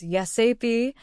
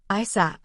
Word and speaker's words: ASAP: You can pronounce it as YesAP or as a single word, ISAP. Both are fine.